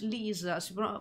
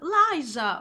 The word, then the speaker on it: Liza: Che tutti quanti, quando tipo metto il follow a dei canali stranieri, fanno welcome Irish Liza, io Irish Lisa, but it's Liza, ok, però io lo pronuncio male, avete ragione.